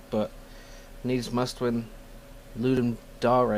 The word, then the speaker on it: Dare: is not the uh the ideal streaming time I guess but need must when ludum dar it's pronounced Dar actually not dare because it's Latin ludum Dar sounds very